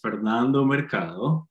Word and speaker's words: Fernando Mercado: Do you want me to roll the R in how I pronounce my name?